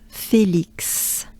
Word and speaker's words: Félix: Petra, Petra, Petra, Félix, Fé, not fille, but fé, like café. Actually, it's perfect. Café, fé. You take that part. Félix. Now there's the banana smile. So we have E and I.